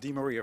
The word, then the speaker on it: DeMaria: It's pronounced DeMaria for the record.